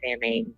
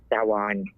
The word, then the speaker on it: Samhain: I know the Muggles call it Samhain, so I figured I'd say it that way. But it's actually pronounced Samhain.